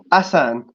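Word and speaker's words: Ahsan: yesterday on my right it looks like a n s a h it's not is it is it a h s a n that's the one brother has it pronounced asan asan okay there we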